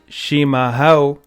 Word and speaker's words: Chimarrão: Chimarrão, pronounced Chimarrão, is the Portuguese word for traditional yerba mate.